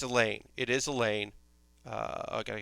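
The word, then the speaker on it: Elaina: It is pronounced Elaine, so I'm not gonna not say that it's Elaine.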